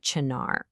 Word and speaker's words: Chinar: Today we're diving into a source called the uprooted Chennar and that's pronounced Chennar.